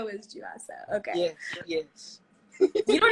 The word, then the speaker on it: Juaso: The name given to me by my parents it is Juaso. Juaso. So Juaso.